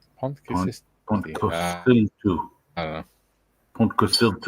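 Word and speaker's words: Pontcysyllte: the letter U is pronounced I.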